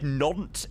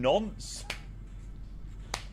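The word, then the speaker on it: Nantes: Lemur fox shot Romeo Sierra and then every time I said na everyone thought I was saying naunt like no welcome in mate no it's it's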